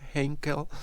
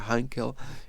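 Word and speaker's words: Heinkel: Aquí está la hinkel, que en realidad se pronuncia Hankel He112 y tenemos sus distintas evoluciones.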